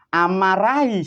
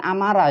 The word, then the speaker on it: amarai: Assalamualaikum sedulurku sing nang kidul panggonane abang rupane amarai sifate, bukan amarah ya para pemirsa, itu ada haknya, ada hinya. Amarai, amarai ya. Itu karena ditulis dan diucapkan manusia salah memahami sehingga disebutkan dari kitab-kitab dan diterangkan yang kurang tepat sehingga disebutkan mempunyai sifat amarah. Bukan, itu amarai.